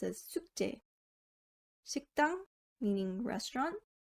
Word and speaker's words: 숙제: 숙제 is pronounced as 숙제.